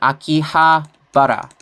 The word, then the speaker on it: Akihabara: So, in the past it was called Akibahara. And then they changed it to Akihabara.